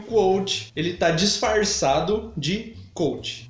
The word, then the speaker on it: Quoth: Na verdade, a pronúncia é Quoth, mas é um saco falar isso enquanto você tá lendo, então, para fim de registro, aqui no vídeo vai ser Quoth, ok?